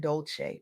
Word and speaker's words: Dolce: I'm Dolce, pronounced dolce, like sweet softness whispered in French, and